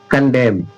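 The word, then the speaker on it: condemn: ये एन है ना? कैन साइलेंट हो गया। कंडेम।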